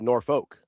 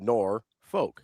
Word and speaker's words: Norfolk: Norfork. It's Norfork. There's no R in the second half of that word.